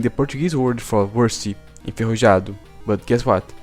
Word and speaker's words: enferrujado: Portuguese word for worsty, enferrujado, but guess what? She pronounced the J like it was an H.